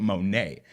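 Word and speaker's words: Monét: been Victoria Monet like spelled like Janelle Monae not E.T not Monet but Monet anyway um Jaguar is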